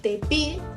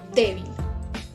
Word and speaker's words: débil: voz está en B porque si no estaríamos diciendo de Bill en vez de débil O sea que es